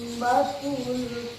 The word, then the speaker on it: الطامة: Panjangkan sepanjang 6 harokat atau 3 alif, baru masukkan ke tasdid dengan suara yang berat. Apa awal ulangi lagi. Fa'idza ja'atit tammatul kubra.